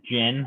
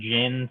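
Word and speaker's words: GHIN: a nice reminder here this is how it's pronounced just like the liquor so it is the gin system the h is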